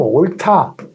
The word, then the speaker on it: 옳다: 이건 기본형은 옳다. 기본형이 달라요. 올바르다. 옳다 할 때 히읗 받침이 일로 가가지고 히읗과 디귿이 합해져가지고 타로 발음되는 거예요.